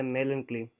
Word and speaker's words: melancholy: देखो यहाँ से MELA, मेला, और कली, कली से थोड़ा बहुत अगर प्रोनाउंस रिलेट करें तो कली, एक कली।